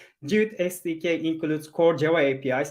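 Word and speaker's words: GWT: It's Google WebKit, but pronounced as Jute.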